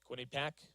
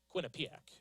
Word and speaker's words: Quinnipiac: Quinnipiac as I butchered the first time of it. There we go. Second time is the better attempt.